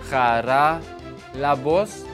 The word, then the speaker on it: Haralambos: huzzah Palouse very prescient it is pronounced cara la voz so who knows it's